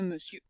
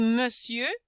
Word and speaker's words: monsieur: C'est sieur, c'est un monsieur. OK? Donc, il faut se souvenir qu'on dit monsieur, on ne prononcera pas mon sieur. Donc, le E indique qu'on dit monsieur et on ne prononcera pas le R.